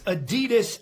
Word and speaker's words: Adidas: Today I'm going to be reviewing this Adidas ab wheel. Now here's a bit of bar trivia for you. Actually Adidas is pronounced adidas.